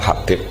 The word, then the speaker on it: Habib: Itu di harakatnya kitab itu ada yang nulis khubab. Yang benar Oh, nggih. Yang benar itu bacanya Habib.